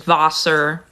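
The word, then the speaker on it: Wasser: in German water is vaser because the W is pronounced as a v in German um but it's written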